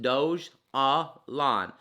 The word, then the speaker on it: Dogelon: is after the city mars's capital um dojolon pronounced doge ah lon dojolandomar became the first the ticker is elon